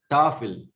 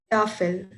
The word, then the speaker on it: Tafel: And the word is Tafel. Tafel. Yeah, it is not Tafel. The stress is on Tafel.